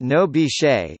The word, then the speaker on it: NOBCChE: chemists and chemical engineers are knope's pronounced no Bechet is a non-profit professional